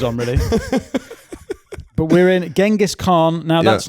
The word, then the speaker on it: Genghis: So, I think the official the top-level autistic pronunciation is Genghis Khan. So, we're going to Genghis Khan. Isn't it I thought it was Chinggis. Chinggis. But you're saying Chinggis. Chinggis. Chinggis Khan. Chinggis Khan. Right.